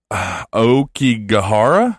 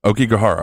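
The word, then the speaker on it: Aokigahara: It's Okigahara? Is that how it's pronounced? Does that sound right? Okigahara, okay. Also known as the Suicide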